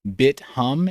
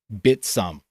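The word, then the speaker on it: Bithumb: It is not BitHum. It's not BitThumb. It's a South Korean exchange, and it is literally pronounced by the founders Bitsum.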